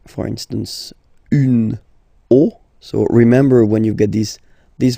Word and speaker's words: os: then it will be, the rule is that you get to put X here at the end, but then same rule, you don't pronounce it.